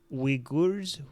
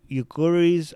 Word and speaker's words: Uyghurs: Uyghurs. Okay, Uyghurs.